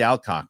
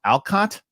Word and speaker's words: Alcock: She didn't even say whatever she said, and I said no, it's Alcock, and she goes Alcott, and I go cock, and she goes cock, and that lives that clip lives on forever.